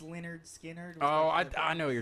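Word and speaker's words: Lynyrd Skynyrd: kind of self-titled it wasn't it was spinners pronounced leonard skinner oh i i know you're talking about yes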